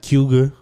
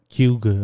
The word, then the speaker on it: Cayuga: there they say like cuga or something like that they kind of like put it all together but anyway that's just